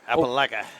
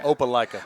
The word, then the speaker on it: Opelika: Appalachia. It's Appalachia or Opelika? Opelika.